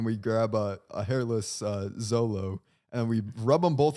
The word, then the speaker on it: Xolo: so in short name this is just a zolo it's xolo yes it's x-o-l-o but the whole